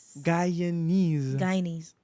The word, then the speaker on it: Guyanese: Your daddy's how you say it? Guyanese. There you go. Like Chinese, Guyanese.